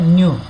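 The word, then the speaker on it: nu: Okay, उसको कैसे बोला जाता है, न्यू, प्रोनाउंसिएशन कैसे करते हैं, न्यू, और उसका साइन है ऐसा।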